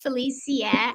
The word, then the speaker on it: Felicia: about your inspiration I'm Felicia pronounced Felicia as Gabrielle said which I love that because that's how they pronounce it in Europe Felicia and um